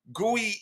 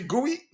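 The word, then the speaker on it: Guéhi: Guey isn't quite there yet. Is he Guy? He says his name is it's pronounced Gee.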